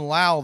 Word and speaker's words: Lowe: and Josh Lowe yeah it's Josh Lowe and Brandon Lau they're spelled the same not related Josh's brother